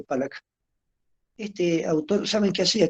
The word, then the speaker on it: Pollock: Había un autor, un pintor norteamericano, Pollock, se escribe Pollock, se escribe Pollock, se dice Pollock.